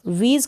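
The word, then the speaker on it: wheeze: Last में ई आएगा, ये आप ध्यान रखें कि लास्ट में ई आएगा, उसका प्रोनाउंसिएशन उच्चारण नहीं होता है, उसको हम नहीं पढ़ते हैं। वीज और WH के बाद ई है, इसलिए हमने एच को नहीं पढ़ा, एच को रीड नहीं किया, इसका प्रोनाउंसिएशन नहीं हुआ।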